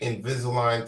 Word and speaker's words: Invisalign: I'll spell it. Invisil. Invisalign.